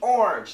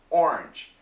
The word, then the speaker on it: orange: Now, so it's with the orange. Now, most Americans, when they say this word, they say it in one syllable. Orange, orange, orange.